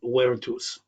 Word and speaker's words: virtus: The key thing there from the remaining ones is virtus, which is virtus. The vert's pronounced a d, so it's virtus, which defined a good